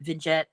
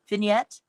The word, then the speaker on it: vignette: Vintet edge. Yeah, that's not how you say it. How do you say that? Vignette.